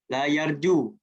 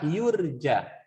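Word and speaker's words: لا يُرجى: Berarti ya-nya dibaca domah. La yarju. La yurja.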